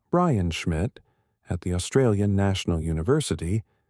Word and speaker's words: Brian Schmidt: Z Supernova Search Team, led by Brian Schmidt, pronounced Brian Schmidt, at the Australian National University, with Adam Rees, pronounced Adam Rees, playing a crucial role in the data analysis.